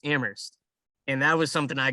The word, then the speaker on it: Amherst: say UMass Amherst, but you don't pronounce the H in it. It's just Amherst.